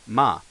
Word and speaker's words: ま: implosives on there now the pronunciation for the next character is actually sounds kind of what you see in English ma that's ma is a mama uh mly Crew ma mly uh the keyword though just like the pronunciation will be mama okay now this may